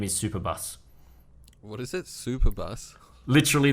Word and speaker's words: Superbus: tarquinos and then the only way you can pronounce this name is superbus what is it superbus literally the word superbus